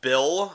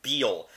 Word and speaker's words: Beale: out at me because apparently you have to say it the correct way there has to be a correct way to say it you know you have to say Major General Beale yeah that sounds real